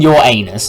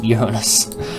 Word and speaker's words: Uranus: I'm not saying your anus, it's Uranus. Alright.